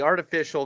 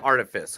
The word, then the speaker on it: Artifice: Harriet Webb, Kay Alexander, and then the last movie is The Artificial Girl. Artifice Girl. Artifice. What? The Artifice Really? I've Girl. been mispronouncing it this whole week then.